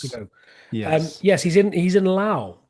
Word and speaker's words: Laos: Yes, he's in Laos, which I always thought was pronounced Laos, but apparently it's pronounced Lao.